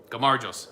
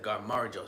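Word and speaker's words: გაუმარჯოს: at peak season because pronunciation of Cheers in Georgian G maros is red as it's spelled garos okay gar garos everybody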